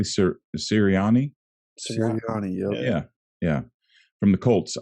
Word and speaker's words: Sirianni: Am I pronouncing this correctly? Sirianni. Sirianni.